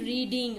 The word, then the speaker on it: read: சொல்லிட்டு I have been ரீடிங். Okay, present perfect continuous tense. Have been ரீடிங். ரீடுனுடைய 3 form தெரியும். ரீடு, ரெட், ரெட். Same spelling சேமா வரும் ரீடுக்கு, ஆனா ரெட் ரெட்னு நம்ம pronounce பண்ணணும்.